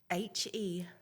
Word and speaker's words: Hebert: It's spelled Hebert and pronounced Hebert. So whenever you see, like with Kelsey, she said her name was Hebert and they misspelled it. We did not. That is Louisiana French spelling for you.